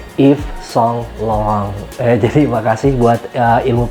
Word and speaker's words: Yves Saint Laurent: ada bahas part Universitas lorents itu dibacanya adalah if song long ya jadi Makasih buat